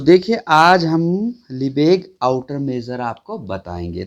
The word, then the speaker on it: Lebesgue: इसकी थोड़ी सी स्पेलिंग आप ध्यान रखना, क्योंकि इसका जो प्रोनाउंस करते हैं वो थोड़ा सा अलग होता है। लिबेग आउटर मेजर।